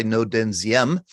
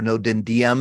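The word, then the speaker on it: Ngo Dinh Diem: overthrown by this guy no denziem or no den diem as it's it's spelled DM was really hand chosen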